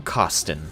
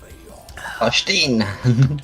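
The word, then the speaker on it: Carstein: And the thing is, I couldn't even keep watching it because he kept mispronouncing Karstein. He said, Vlad von Kosten.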